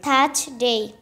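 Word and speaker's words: Thursday: ডি এ ওয়াই কি উচ্চারণ ডে তাহলে কি উচ্চারণ হচ্ছে থার্সডে থাস ডে জ উচ্চারণ থাস করলে করা যাবে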